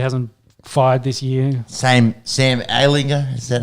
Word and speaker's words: Ehlinger: Sam Ehlinger, is that how you say it?